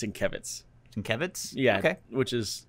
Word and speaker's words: Sienkiewicz: Bill Sienkiewicz? Yeah. That's not how you pronounce it. I was watching a New Mutants Roundtable on Comic-Con, and he came on, and it's Sienkiewicz.